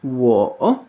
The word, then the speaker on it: 我: Alors pour la prononciation, on a d'abord « wo », W-O, troisième ton sur le O qu'on a déjà vu. Le W qui se prononce un peu comme un U, comme un OU, comme dans wagon par